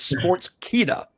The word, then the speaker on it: Sportskeeda: You say it like Teddy says it. It's sports keka.